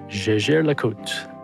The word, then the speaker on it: Jaeger-LeCoultre: And actually, one other thing that I don't think really has changed that much is people mispronouncing the brand name, which is Jaeger-LeCoultre. Are you sure it's not Jaeger?